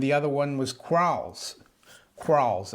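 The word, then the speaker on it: Quarles: other one was crawls crawls i think it's uh pronounced q u a q-u-a-r-l-e-s and randall crawls also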